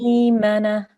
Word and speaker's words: ميمنة: So this would be pronounced may. May. Maymana.